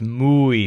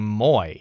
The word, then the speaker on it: muy: Now I have to point out that many English speakers learn this word but mispronounce it, saying moy or something like that. That's an error that we make because the oi sound is so common in English. It's not as common in Spanish.